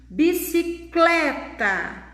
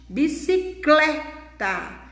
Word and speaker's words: bicicleta: Bicicleta. Aí vocês podem notar que não existe acento, mas nem por isso nós não podemos deixar de perceber que ela também contém uma sílaba tônica, uma sílaba forte. Bicicleta. Então, a sílaba aqui, tônica, é clé.